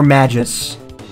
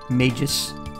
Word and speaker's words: Magus: Magus or Magus or majus it's either a hard G a soft G or a hard G with a long a I say Magnus but